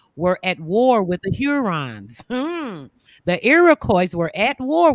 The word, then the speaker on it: Hurons: So it's pronounced the Hurons.